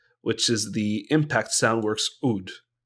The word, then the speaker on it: oud: is the Impact Soundworks Oud, or the Oud, if you want to say it properly. Sorry, not properly. Say it in its native language, which is Arabic.